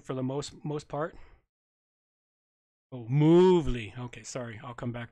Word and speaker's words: Movely: All right, so I mispronounced Movely. It should be Movely. Put the moo in there. We'll give it the cow moo.